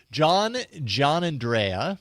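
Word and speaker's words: Giannandrea: John Andrea is how you pronounce his last name.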